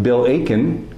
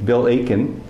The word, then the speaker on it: Aitken: very good to be talking with bill aiken you don't pronounce the t in his name bill aiken who is the author